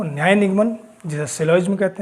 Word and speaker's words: syllogism: कहते हैं कुछ लोग सिलोज म कोई सिलोज म पता नहीं क्या-क्या कह करके पुकारते हैं वैसे शायद शुद्ध प्रोनंसिएशन इसका सिलोज में ही कहते हैं इसका जी जो है साइलेंट रहता है कोई नहीं न्याय निगमन